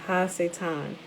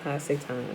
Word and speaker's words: Ha-Satan: She is doing the work of her father, Ha-Satan, or Satan. That's how you say it in Hebrew, Ha-Satan, or Ha-Shaitan, or Shaitan.